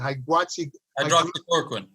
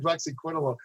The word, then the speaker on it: hydroxychloroquine: He insists that I always mispronounce it. Hydroxychloroquine. I always call it hydroxyquinone.